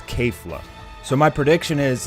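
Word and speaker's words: Kefla: strong KK flaw is I got to pronounce her name right it's K flah so my prediction is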